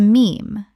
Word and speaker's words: meme: He took the Greek word mim, meaning something imitated, and shortened it to meme, to rhyme with gene.